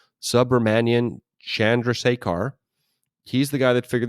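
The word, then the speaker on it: Subrahmanyan Chandrasekhar: It's actually pronounced exactly the way it's spelled, Subramanian Chandrasekhar.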